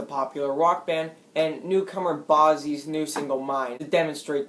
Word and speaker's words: Bazzi: I'll use the song Thunder by Imagine Dragons, the popular rock band, and newcomer Bazzi's new single Mine to demonstrate these points. Is that how you pronounce his name? Bazzi?